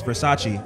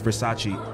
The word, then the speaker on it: Versace: Showgirls, Elizabeth Berkley incorrectly pronounces Versace as what?